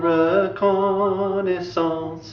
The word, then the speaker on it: reconnaissance: Et plein de reconnaissance. Okay. And that's, of course, rhymes with the la naissance. Will rhyme exactly with la naissance.